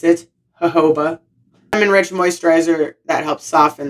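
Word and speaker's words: jojoba: Now that I know how to pronounce it, Hoba rich moisturizer that helps soften the hair.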